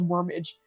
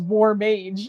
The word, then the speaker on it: war mage: with us and he the way he pronounced it I thought it was wormage so I wrote it down and then I said wormage and then eventually I was like oh it was war Mage not warmage um but I should